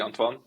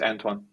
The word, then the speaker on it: Antoine: it's Onan right like pronounced It the French way or in a different way um if I well in Dutch it would be Anan but I think in English many people call me just anine anine is perfect those that going to